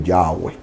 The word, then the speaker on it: Yahweh: Esta es la forma de yo pronunciar correctamente Yahweh.